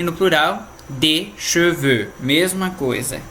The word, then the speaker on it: cheveux: E no plural, des cheveux, mesma coisa. Então, cheveux tanto pode ser no singular quanto no plural na pronúncia.